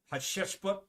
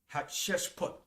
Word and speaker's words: Hatshepsut: All right, Hatshepsut, a female pharaoh.